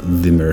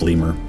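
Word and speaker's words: lemure: I'm just going to pronounce it as lemur.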